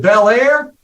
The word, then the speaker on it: Bellaire: It rhymes with Bellaire. That's why I do things with a flair, sell more Medicare, and one day we'll be a millionaire.